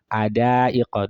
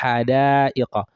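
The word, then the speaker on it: حدائق: So for example, Hadaiqa, they may just say Adaiqa. This is very common. Ada, is it Adaiqa? It's not it's Hadaiqa.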